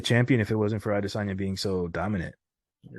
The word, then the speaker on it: Adesanya: How do you Mm-hmm. say his name for real? Because I always hear people say it all different. I'd say Adesanya. Adesanya.